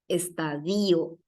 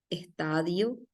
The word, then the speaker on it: estadio: la til de acá estadío le encanta así ponerle la tilde a la i estadío o si no intervalo por ejemplo pero en realidad la palabra es intervalo intervalo se carga la voz en la a intervalo y no intervalo acá por ejemplo es interin estadio estadio de fútbol o estadio con el sentido de etapa o fase igual se dice estadio ahí hay algunas palabritas